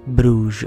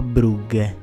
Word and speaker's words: Brugge: Ragazzone di 1,92 m, mancino, belga, che prima di accasarsi con il Milan giocava nel Club Bruges o Brugge, sempre per la pronuncia, per non sbagliare mai. Le dico entrambe.